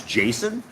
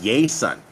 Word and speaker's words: Jason: country my name is Jason when I came down here people don't know how to say my name they call me yay son right because Jay's don't have that J sound there's no such thing